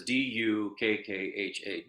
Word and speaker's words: dukkha: It's like we transliterate it as D, or spell it as D-U-K-K-H-A, dukkha.